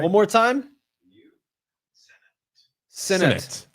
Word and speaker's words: Sinnott: Sinnott. Like All right. Sinnott. Okay. Like Cinnabon.